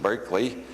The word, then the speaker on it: Berkeley: city is named only we don't pronounce it Barkley anymore we pronounce it Berkeley and then there was